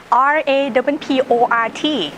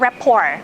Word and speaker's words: rapport: ในหัวข้อต่อไปนะคะเกี่ยวกับ building rapport RAPPORT อ่านว่า rapport ไม่ใช่ rapport rapport แปลว่าการสร้างไมตรีการสร้างสายสัมพันธ์ไมตรีจิตให้กับลูกทัวร์ so first